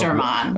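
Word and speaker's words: Westermann: she named Vestermann morphospace, she corrected my pronunciation because it Oh, is excuse me. Vestermann. Oh, Vestermann, excuse me. Yes. Yes, German biologist, and that's how that's pronounced.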